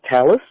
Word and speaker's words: tallit: may notice that the the ashkenazi will pronounce it Tallis but it's built to